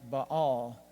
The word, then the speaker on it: Baal: we usually pronounce it Bale but in the original Semitic languages it was usually something like Baal but it's easier to